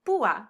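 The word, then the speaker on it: púa: be pronounced separately well i can use an accent to break up a diphthong like in pua which means spur or in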